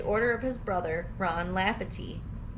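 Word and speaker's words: Lafferty: of his brother Ron laughy laugherty I said it right the first time said it wrong the second time who claimed to have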